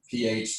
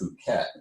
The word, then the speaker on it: Phuket: it like an American, it looks like Phuket. You can say it in your own head. That's how I said it. But Albright said it's Phuket. I was like, yeah, the H is silent.